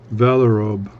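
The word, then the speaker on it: Vallorbe: It's V-A-L-L-O-R-B-E, Valorobe, or V, Valorobe, maybe it's Valorobe, it depends on how they pronounce it in Switzerland or whatever, but Valorobe, Valorobe, something like that.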